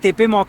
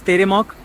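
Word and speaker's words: Теремок: Petersburg, Modern Russian Cuisine, Teremok, it looks like Tepemok, but It's pronounced as Teremok 😁 Congratulation Russian Pancake which is called Blini and Dumplings.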